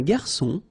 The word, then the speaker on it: garçon: Remember when we get this cédille beneath the C, it will give you the pronunciation S of C. So instead of K, as it should be with O.